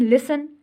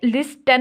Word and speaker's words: listen: उसके बाद हम लिसन, LISTEN, लिसन बोलते हैं। तो अब इसमें लिस्टन नहीं बोलते, हम लिसन बोलते हैं, तो टी यहाँ पर साइलेंट, ठीक है।